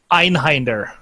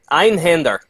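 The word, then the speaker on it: Einhänder: Einhinder. It's Hinder sounds better. That's not how you pronounce the A. That's not how you pronounce the A with the umlauts over it. It's Einhinder. Oh my god, you're killing me, man.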